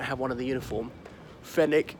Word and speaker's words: Fenwick: one of the uniform fennec it's not pronounced Fenwick Jo Malone dadada ooh